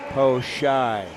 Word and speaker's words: Po Shai: versus Canada, Chauvin and Po Shai. And Po Shai's mother, Eva, was just here telling us please pronounce the name correctly, and we have.